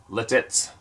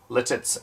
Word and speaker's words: Lititz: County I live in a town called ltis pronounce Lititz Lititz l i t t z which is only